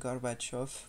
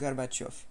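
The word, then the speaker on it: Gorbachev: voilà j'ai fait russe Gorbatchev ça se prononce garbach off parce que alors déjà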